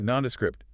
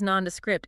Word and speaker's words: nondescript: Nondescript, international. Yeah. US non-D-AT. If something's nondescript, it just lacks distinctive or interesting features.